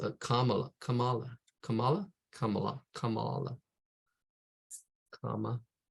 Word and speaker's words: Kamala: out how to say her name uh it's pronounced a Kamala Kamala Kamala Kamala Kamala comma la Kamala Kamala that that Siri thing or Alexa